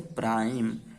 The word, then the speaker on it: prime: ठीक है, इस चीज को ध्यान देखिएगा कि आखिरी में जो ई होता है वो साइलेंट होता है। जैसे यहाँ पे हो गया हमारा बाइक। अब प्राइम, उसी टाइप से प्राइम।